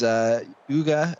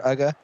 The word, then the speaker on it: Uga: As Uga, I think is how you pronounce it, Uga, on the field as well.